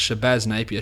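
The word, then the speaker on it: Shabazz Napier: me whatsoever sea Livingston shabbaz napia or shabaz napia sorry it's shabaz napia shabaz Muhammad because of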